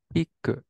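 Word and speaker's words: 聞く: What's this kanji pronounced as? Kiku.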